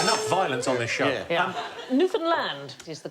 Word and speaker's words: Newfoundland: shoot you now uh no it isn't the correct pronunciation Newland hey hey enough violence on this show Newan land is the correct pronunciation